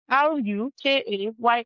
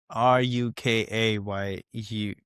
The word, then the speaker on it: Rukayat: RUKAYAT is my name. I believe that's the one I have. It's against what you had there. RUKAYAT. RUKAYUT.